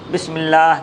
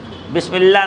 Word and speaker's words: بسم اللہ: بسم اللہ نہیں، بسم اللہ تلفظ صحیح نہیں ہے، اس لیے ہا آخر میں ہے تو لازماً ہا آنا چاہیے، ورنہ معنی فاسد ہو جائے گا۔ ہاں بسم اللہ، ہاں نکلنا چاہیے۔ الحمدللہ، الحمدللہ، الحمدللہ کہہ